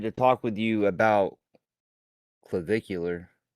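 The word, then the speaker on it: Clavicular: Um, so I I wanted to talk with you about clvicular. Is that how you pronounce it? I think so. Yeah. Yeah. No. Yes, that is how you pronounce it. Clvicular.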